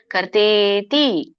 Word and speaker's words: ಕರ್ತೇತಿ: ಕರ್ಮಚೋದನ ಕರಣಂ ಕರ್ಮ ಕರ್ತೇತಿ ಕರ್ತೇತಿ ಕರ್ತಾ ಇತಿ ಅಂತ ಕರೀತಾರೆ ಅದಕ್ಕೆ ಕೂಡಿ ಕರ್ತೇತಿ ದೀರ್ಘ ಇದೆ ಹಗೆತ ಕೆ ಕರ್ತೇತಿ ತ್ರಿವಿಧ ತ್ರಿವಿಧ ಧ ದೊಡ್ಡದು